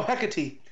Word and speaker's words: Hecate: Oh, Hecate. Hecate. Alright, see, I never would have got that. There you go. Right, Hecate, the witch goddess of magic, it's Greek.